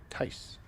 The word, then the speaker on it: Tyche: supposed to be saying Tice. Almost with an S sound.